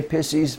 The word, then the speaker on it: Pisces: put zero of Pisces I'd say pisses which is the proper pronunciation but most people cringe suspicious all right then